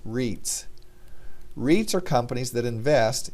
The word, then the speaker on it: REITs: estate investment trusts or rei TS for short pronounced reads REITs are companies that